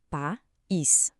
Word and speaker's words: país: Em pais temos um ditongo. Os sons ficam juntos numa sílaba só, mas em país a gente separa país.